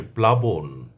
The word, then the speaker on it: প্লাবন: অর্থাৎ ল এর উচ্চারণ স্পষ্টভাবে আসবে। এক্ষেত্রে কোন দত্ত উচ্চারণ হবে না।